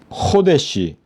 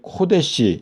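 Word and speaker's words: חודש: 자, 그래서 여기 새 포도주 그리고 새 것 그리고 여기 이제 코데시 이제 요게 발음이 코라고 하면은 이게 가데스처럼 이해를 할 수가 있는데 헤트에다가 그리고 달렛에 그리고 쉰 해가지고 호데시인데요. 요게 월삭 새 것이다.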